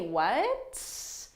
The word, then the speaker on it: what: a question and generally native english speakers we don't pronounce the final t in this so i don't say what because you can't really